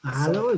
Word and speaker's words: Mahalo: that is just adorable Mahalo Mahalo is that how you pronounce it yep that is so so